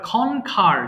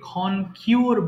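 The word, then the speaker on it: conquer: কনসোল্ড কোথায় গেল এবার খনখার জয় লাভ করা আমরা ভুল করে এটাকে কন কিউর বলি অথবা খন কন কিউয়ার বলি এটা উচ্চারণ হবে খনখার খনখার জয় লাভ করা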